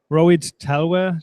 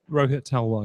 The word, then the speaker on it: Rohit Talwar: Here we are from Inside AR live from the fair, and with me is Rohit Talwar. Did I pronounce it right? Rohit Talwar, yeah.